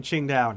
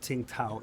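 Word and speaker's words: Qingdao: There's some coastal defenses in Ching Dao now. Yep, that's how you pronounce it. It's not Tinkao, it's Chinda.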